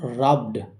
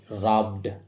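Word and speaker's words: rubbed: এখানে ব সাউন্ড রয়েছে। ব সাউন্ডের পরে ইডি রয়েছে। আর এই ব সাউন্ড ভয়েসড কনসোনেন্ট সাউন্ড। তাই এই ব সাউন্ডের পরে ইডি থাকার জন্য এই ইডি এর উচ্চারণ শুধু ড এর মত হবে। রাবড।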